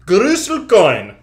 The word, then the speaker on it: Groestlcoin: to look at the gruel coin FAQ you would see is pronounced Gru coin right so that's why